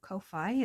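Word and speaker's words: kōwhai: that would, like there's a Kauai, New Zealand Kauai, or Kowhai as it's properly, no, it's wrong colours. properly pronounced.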